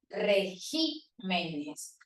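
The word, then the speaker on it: regímenes: esdrújula régimen es rúcula el acento recae en la sílaba re pero el plural el acento se desplaza una posición diciendo regimenes Espécimen para el singular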